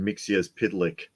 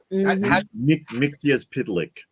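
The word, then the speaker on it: Mxyzptlk: in the world finest batm Bat Mite in mixia pitlick that David that's amazing you can pronounce that the guy with the backwards uh metop mixia Plick wow I remember it because they explained the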